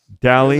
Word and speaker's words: Dally: Dally. Yeah, kind of rhymes with Sally.